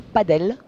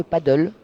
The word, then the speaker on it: padel: à chaque fois alors on dit plutôt pas d'elle que paddle voilà le paddle c'est la planche et la ram et et est donc on prononce plutôt padel voilà pour répondre à